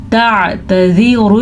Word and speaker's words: تعتذروا: لا الف مدہ تعتذروا عین کے تلفظ کا خاص خیال رکھنا ہے اور اس تا کو یا زال کو لمبا نہیں کرنا. کیسے تعتذروا اليوم.